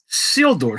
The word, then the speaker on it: Isildur: Isildur. So it's just a silent I. Yes. It. So think of like a seal and a door. It's the same Isildur that they pronounce in Lord of the Rings.